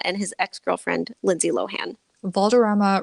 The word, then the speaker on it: Valderrama: his ex-girlfriend Lindsay Lohan Valderrama rhymes with drama because that's what he